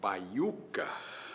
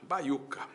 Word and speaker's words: baiuca: Com ou sem s na sílaba. Se eu pegar uma palavra como baiuca, baiuca, no papel, na separação silábica eu vou ter bai u k.